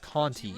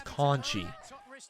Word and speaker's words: Conti: So I guess her last name's not pronounced Conti, it's Conchi. So it's Tainara Conchi. So it's a weird syllable pronunciation, I guess.